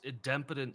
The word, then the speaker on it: idempotent: I've always heard it with the strong I at the beginning.